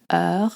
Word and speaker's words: heure: You pronounce heure like in butter, and you link it together, such as in il est 2 heures.